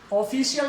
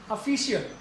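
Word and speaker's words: official: ऐसे ही comment, ऑफिशियल नहीं, ऑफिशियल। जैसे मैंने कहा गवर्नमेंट नहीं, गवर्नमेंट, तो ये ओ से संबंधित।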